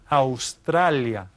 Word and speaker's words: Australia: we stress it Africa over here is Australia Australia again it's spelled the same but we pronounce it a little bit differently because the pronunciation in Spanish is always consistent Australia then down here